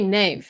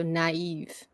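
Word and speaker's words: naïve: which we all know, you don't say naive, right? Yeah. So you say the E as its own syllable, so naive or Noël.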